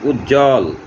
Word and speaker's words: উজ্জ্বল: যুক্ত ব্যঞ্জনের সঙ্গে বফলা থাকলে তা অনুচ্চারিত থাকে। যেমন উজ্জ্বল, এখানে দুইটা যুক্ত বর্ণ বর্গীয় জ, এরপর আবার বফলা, উজ্জ্বল ইত্যাদি।